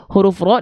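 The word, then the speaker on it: ر: a ya tapi pertanyaannya Kenapa huruf ra di sini enggak kita baca ra kenapa enggak dibaca Bismillahirrahmanirrahim Kenapa dibacanya kok kita dengar seperti vokal o Kenapa Bukankah fathah itu basicnya A tapi kenapa ro dibaca tidak ra nah gitu Kenapa karena huruf ro ketika fathah harus dibaca dengan mufakhamah harus dibaca dengan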